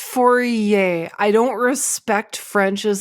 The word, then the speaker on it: Fourier: I'll just do a four-year transform on you that's fine do it it's pronounced Fourier I don't respect French